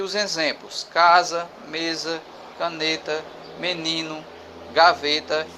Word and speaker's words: menino: Menino, ni, é a penúltima sílaba. Por isso que ela é uma palavra paroxítona.